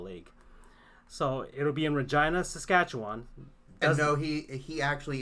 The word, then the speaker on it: Regina: the Canadian Football League so it'll be in Regina Saskatchewan so he he actually is pronouncing that correctly yeah it's not Regina its Regina and that's an interesting thing and a lot